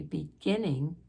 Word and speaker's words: beginning: The first G, beginning, is a hard G.